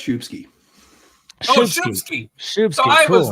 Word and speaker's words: Szubski: right the first time it's pronounced shubsky Shi shsk I was